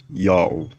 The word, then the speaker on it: Ya'oh: The vowels A plus U contracted to O as in August were written in Akkadian with a U sign. Thus the pronunciation is also Yao.